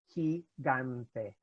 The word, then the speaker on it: gigante: So you have gigante, for example, Gigante, gante.